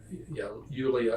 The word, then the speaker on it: Yulia: And she said, yeah, Yulia, because it's like Yule.